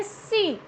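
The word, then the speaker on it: scene: Then सीन, नॉट सीन. Okay, सीन. तो ये क्या है, हियर अगेन सी साइलेंट.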